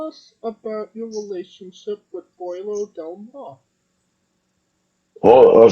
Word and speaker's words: Pollo: No one knows how to pronounce. I was like, man, y'all not taking a single lick of Spanish or listen to anybody talk. They keep calling her Polo like she's or polio or something like that.